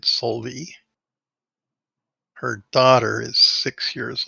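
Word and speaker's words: Solveig: spelled k-o-t-e-n-g what cutting solvey is spelled s-o-l-v-i-e-g but it's enunciated solely her daughter is six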